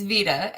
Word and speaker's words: VeDA: And so almost always I go to, I don't know if you pronounce it Veda or Vita. Are you good? Do you know? Oh yeah, it's Vita.